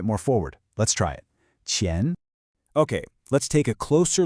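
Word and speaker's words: 钱: It's a second tone, so it's a rising tone. Chen.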